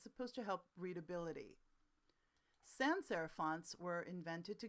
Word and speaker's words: sans: Sans serif, sans, and by the way we don't pronounce the S, is French for without.